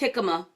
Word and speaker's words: jicama: This is pronounced jicama.